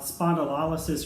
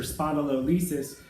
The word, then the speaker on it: spondylolysis: give a rundown about spondylolysis or spondylolysis of which those are the same terms it just depends on how you want to pronounce it which is going to